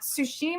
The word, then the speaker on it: Tsushima: I just heard heard that ghost of uh tsushima I think is how you say it will